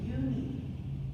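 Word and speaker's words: Unhei: she nodded slowly yes you pronounce it you need and it means grace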